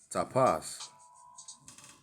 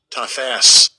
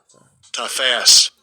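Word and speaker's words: תָּפַשׂ: Tapas. All right. And let's get the pronunciation real quick. Strong's H8610. Tafas. Oh, Tafas.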